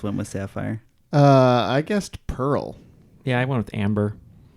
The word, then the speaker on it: Perl: So I would give points for sure for It's Pearl. okay. I'll say Pearl is wrong. To my knowledge, Pearl Sapphire and Amber are not the names of programming languages. Pearl is, however, it is a homophone.